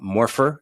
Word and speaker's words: Morpher: you're running this awesome company uh more uh morpher is how you pronounce it um this seems like a path